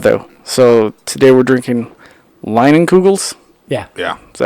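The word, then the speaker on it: Leinenkugel's: So, today we're drinking Leinenkugels.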